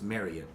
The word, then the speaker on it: Marriott: on the recess and I'm saying Marriott wrong it's like chariot so it's marry you oh that's just tomato